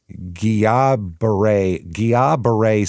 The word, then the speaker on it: Guillain-Barré: This is Guillain-Barré syndrome. It's spelled different. It's spelled Guillain-Barré accent. So that's how that's French. I guess that's why it's Guillain, because that's the like pronunciation of it.